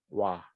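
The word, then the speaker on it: 蛙: 처음에 저는 읽을 때부터 궁금했는데 개구리가 중국어 발음이 와입니다. 와.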